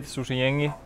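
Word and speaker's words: Susijengi: It's very hard to say, but that's the correct word to say, Susie Yengi.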